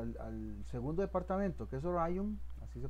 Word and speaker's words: Orion: Pero si nos vamos, por ejemplo, al segundo departamento, que es Orion, así se pronuncia, vemos que para el turno A son muy poquitos comparados con el turno B.